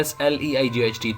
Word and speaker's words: sleight: It has in essence that कि उसका meaning है SLIGHT, लेकिन ये जो वर्ड लिखा है ये है SLEIGHT। तो इन दोनों की प्रोनाउंस सेम है लेकिन मीनिंग में बहुत डिफरेंस है।